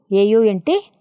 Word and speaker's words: aunt: Yes, this, see, this is ant, A-N-T, ant. She is aunt, A-U-N-T, aunt. See the spellings, ant, aunt. Both are same pronunciation but different meanings and different spellings.